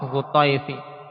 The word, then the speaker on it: Hutayf: Hutayf dengan apa? Dengan fathah ta, Hutayfi.